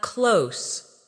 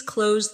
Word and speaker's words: close: As an adjective, close means near, like the store is close to my house. The two meanings sound different. The verb rhymes with rose, while the adjective rhymes with dose.